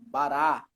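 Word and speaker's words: בָּרָא: É uma observação que em hebraico, geralmente, a sílaba tônica é a última, conforme o nosso irmão leu aqui na letra A, no primeiro exemplo, bará. Bará.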